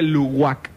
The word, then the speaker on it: Luwak: Pero se escribe Luwak con W, pero se pronuncia Luwak.